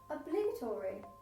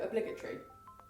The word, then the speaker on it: obligatory: Obligatory. No, obligatory. That's how you pronounce it.